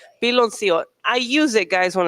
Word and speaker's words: piloncillo: Piloncillo. Piloncillo.